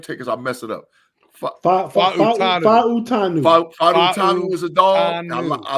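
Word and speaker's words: Fautanu: Fa'utanu.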